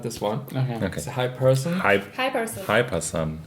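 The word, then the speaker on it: Hiperson: I would I would also say hyper sun. Hyperson but you would also hyper like sun like a sun but put it here like here hyperson.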